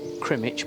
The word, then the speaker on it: Crymych: we're staying in uh it's spelt cremate but it's actually pronounced crema i believe so yeah it's going